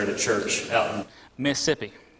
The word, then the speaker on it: Mississippi: He also was a full-time preacher at a church out in Mississippi. It has 2 syllables, not more than that.